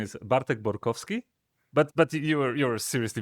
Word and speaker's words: Bartek Borkowski: So, the correct pronunciation is Bartk Borovski, but but you you're seriously very very close.